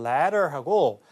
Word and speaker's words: letter: 이게 이제 영국식 발음이라서 좀 헷갈리는 게 덜했습니다만, 자, 미국식 발음으로 발음이 됐다면 사다리의 letter하고 서신, 편지의 letter도 T 발음이 부드럽게 우리말 리을처럼 발음되기 때문에 letter 이렇게 발음돼요.